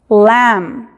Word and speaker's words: lamb: En las palabras que terminan en la combinación MN o MB, la última letra en estas combinaciones es muda. Entonces, en la combinación MN, la N es muda, y en MB, la B es muda. Como por ejemplo tenemos autumn, autumn, lamb, dumb. ¿Se fijan? No se pronuncia ni la B ni la N.